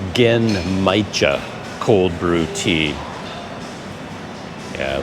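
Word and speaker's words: Genmaicha: Gen Maicon something. I don't know what that is. Gen Maicha. Oh, Maicha. Gen Maicha. Okay. I got some information about the name. So it's like Gen Maicha cold brew tea.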